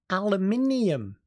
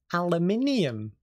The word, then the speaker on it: aluminium: differences for example uh in British English aluminium aluminium in American English aluminum aluminum even the